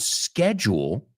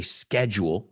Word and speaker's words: schedule: tight schedule right and the word schedule depending on if you're British or American Americans say schedule as you just heard me say it and British a schedule so filming began on